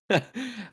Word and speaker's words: Ayo: Pretty sure it's Io not is AO. Yeah. Ayo.